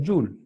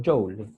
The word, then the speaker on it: Joule: Se pronuncia Joule o Joule, como ustedes lo quieran decir.